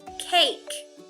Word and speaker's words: cake: We have the sneaky E, silent E at the end, and it's going to make the A say its name. Let's read it together. Ache, cake.